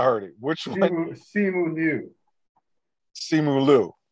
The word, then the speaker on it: Simu Liu: it which you see simulu is how you pronounce it copy that um what